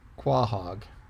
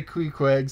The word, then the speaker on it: Queequeg: Quohog.